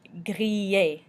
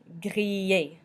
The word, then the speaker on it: griller: In French, when you have an ILL, it's pronounced like E with a little Y stuck to the end. E. So, for example, in the word griller, griller.